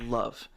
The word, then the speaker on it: LV: It's pronounced love.